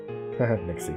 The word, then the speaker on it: nixie: Nixie, they sound like pixies.